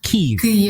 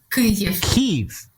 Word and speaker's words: Kyiv: Kyiv, right? Kyiv. So it's like a double. I know it's difficult for. I think that Kyiv. There is this sound in Ukrainian, which is difficult to pronounce for many foreigners.